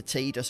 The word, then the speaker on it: Tidus: trust me on that i've only just recently started calling the main character tidus rather than tied us so yeah trying